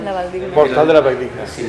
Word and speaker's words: Valldigna: Valldigna. La Valldigna.